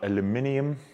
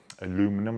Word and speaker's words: aluminium: had these machines so out of aluminium aluminum like the americans say so out of aluminium